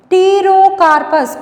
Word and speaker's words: Pterocarpus: Pterocarpus, P silent here. Pterocarpus santallinus.